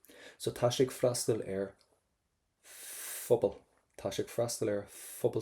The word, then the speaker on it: Phobal: So every time we have a PH, we want to pronounce that as the letter F. So tá sé ag freastal Phobal.